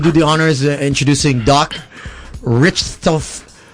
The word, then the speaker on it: Richthofen: It's German. It's German. You know how to say this? Richthofen. Just Richthofen. Richthofen. So basically, you're making it a lot more so complicated. it's basically like it's saying, rip open.